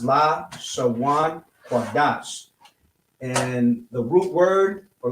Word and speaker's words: Lashawan Qadash: in English, this is how it would be pronounced: Lashawan Qadash.